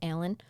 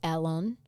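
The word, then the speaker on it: Alun: to tell you his how we pronounce his name is alen how they probably say it is Alon just know there is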